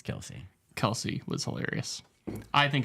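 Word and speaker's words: Kelce: Yeah, Kelsey was hilarious. Yeah, that was. Kels, right? Isn't that how you say it? It's Kelsey.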